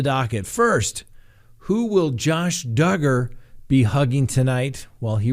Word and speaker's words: Duggar: the docket who will josh duggar rhymes with hugger be hugging tonight in